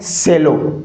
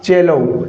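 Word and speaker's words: cello: ये साथियों सी E double L ओ ये क्या है? सेलो। क्या है? सेलो। नहीं साथियों इसका उच्चारण क्या होगा? चेलोऊ। क्या होगा साथियों? चेलोऊ होगा।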